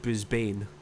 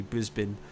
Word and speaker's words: Brisbane: to Brisbane but me me being English and like pronouncing it as a sort I said Brisbane which is apparently not correct it's actually Brisbane so uh yeah Lessons